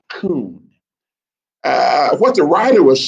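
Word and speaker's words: כון: The original Hebrew, that word order in the original Hebrew is a word that's spelled K-O-O-N. It's pronounced coon.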